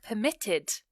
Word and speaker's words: permitted: The bank permitted my actions. So it's quite subtle, but you can hear the emphasis on the end of the word, or the base form of the word, preferred, permitted.